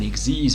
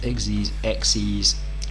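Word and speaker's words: Xyz: of monster called an Exeiz monster. It's spelled X Y Z, but it's pronounced Exxes.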